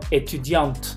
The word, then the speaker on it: étudiante: Esa E no se pronuncia, hace que la letra anterior sí se pronuncie, la T, pero la E no es étudiante, es étudiante.